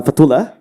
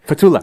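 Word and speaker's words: Fathulah: And the audience, my name is uh Fatula from Singapore. From Singapore. Part two. Yes. How do you spell that? Uh F A T H U L A H. Fatula.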